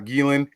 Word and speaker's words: Geelan: Geelan.